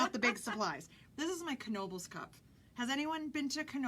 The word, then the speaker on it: Knoebels: And yes, you do pronounce the K, as weird as it sounds. It's not Nobles, it's Knoebels.